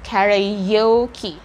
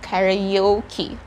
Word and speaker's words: karaoke: word is karaoke again you pronounce that as karaoke imagine that there is letter y between a and o so you have to say karayoki we have karaoke salons